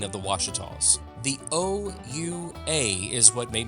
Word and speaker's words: Ouachita: I Googled the pronunciation, and this is what Google gave me. Ouachita Mountains.